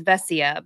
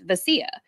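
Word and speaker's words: Vesia: media packet has like everybody says vessia but technically on the pronunciation packet it's vasia so like I'm sure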